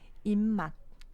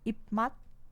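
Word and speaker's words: 입맛: Então, em vez de ipmat, vai ser immat.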